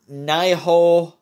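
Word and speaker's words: Nioh: The next game is Nihoh 2, it's spelled N-I-O-H, I think it's Japanese or something, I'm not sure.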